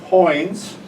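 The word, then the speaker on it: quoins: I don't want to talk about all these things but I want to mention something called coins. Q U O I N S pronounced like it's C O I NS and lentils which are the whatever's above the window.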